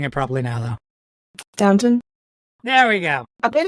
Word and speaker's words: Downton: Downton? There we go. I paid attention. Yeah. Downton and Worcester. Y'all just stop pronouncing the rest of the words.